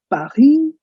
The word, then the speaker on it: Paris: Did you know we pronounce Paris as Paris? It's the last S is silent.